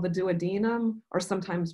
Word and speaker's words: duodenum: The first part of the small intestine, shown here in yellow, is called the duodenum, or sometimes pronounced duodenum.